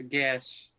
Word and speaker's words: Gesh: Apparently it's Gesh. Gesh, yeah, We always or called it Geish, or something like that.